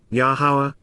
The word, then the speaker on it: Yahowah: yeah those who rever yahwah yahwah the proper pronunciation of the name of our ELO God